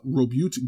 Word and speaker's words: Robute: Sorry, his name is Robut? Robute. Or to some people pronounce it Robute, Robute. I have pronounced it Robute since I was 16, and I'm not going to change.